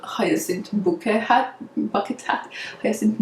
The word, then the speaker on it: Bucket: lady who's called heisen bucket but she wants to be upper class so she says that her name is pronounced hyacinth bouquet like like the french would say so that's why i